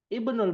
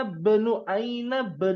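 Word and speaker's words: ابن: Ibnul mudarrisi fil fasli. Anaknya guru fil fasl. Ma mana fasl? Di kelas. Di kelas. Aina benu, bukan aina ibnu. Bacanya aina benu mudiri. Nah, lihat kata aina.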